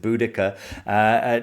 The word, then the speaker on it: Boudica: So depending on your pronunciation, Boadicea, I think some people pronounce it. I think most people pronounce it Boudica.